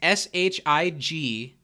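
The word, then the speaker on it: Shigeyasu: this is a tough shiggy yasu oh nice it's s-h-i-g-e-y-a-s-u you nailed it shig e yasu nice but that's a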